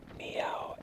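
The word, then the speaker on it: Meaux: is making videos anymore I believe it's uh pronounced meow m e a u x as m are who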